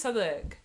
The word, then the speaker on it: Southwark: Do you pronounce Southwark, Southwark? No. It's always Southwark.